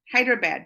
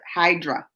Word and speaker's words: Hyderabad: Actually, you are pronouncing Hyderabad. I did! Hyderabad. But here in India, people don't pronounce correct. They call it Hydra. Oh, so look, I did it correctly and they do it wrong there.